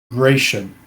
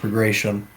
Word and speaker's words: Bagration: Gratian. I don't know how you say it. It's Bagration. I'm gonna call it Bagration.